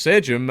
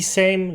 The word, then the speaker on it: Sejm: Same. Not Sejm. Mate, you're not Turkish. Same. And I know it sounds like the word for the same, like it's identical.